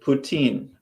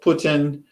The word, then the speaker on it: poutine: putin actually it's spelled poutine or i mean french would pronounce it putin uh poutine sadie has